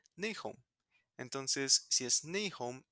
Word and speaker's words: Nahum: Y era lo mismo con Nihem o NHM, que son las mismas consonantes que Nahum, que si lo vemos en inglés se pronuncia Nahum.